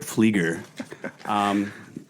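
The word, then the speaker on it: Pflieger: Paper Rip Flieger. Pronounced the P on Paper Rip, silent P for my last name.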